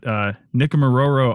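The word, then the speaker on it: Nikumaroro: They recently completed, as I said, their summer trip to, and you'll have to correct my pronunciation on this, but Nickamororo Island, and we're going to talk about what they learned.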